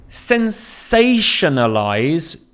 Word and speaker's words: sensationalize: Sensationalize, the stress is on say. So follow me. Sensationalize. Sensationalize. So you can hear the stress is on say, and then there's unstressed syllables following that.